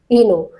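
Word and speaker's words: oeno: पेड़ हैं अब देखिए ओ ई एन ओ इस वर्ड को जरा ध्यान से देखिए इसे प्रोनाउंस करेंगे हम इनो इनो फाइल इनो फाइल वो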